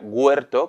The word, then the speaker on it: huerto: huerto en judeo español se escribe y se pronuncia huerto con una G plena, como también se escucha por aquí, tampoco es una cosa tan novedosa.